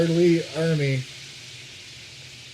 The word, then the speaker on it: Ermey: Lee Ermey. A lot of people get his name wrong. It's R. Lee, Leeermey.